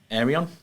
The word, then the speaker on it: Arion: Then you've got your colleagues coming from Arion. Yeah, Did I from pronounce Arian. that correctly? Arion. Arian.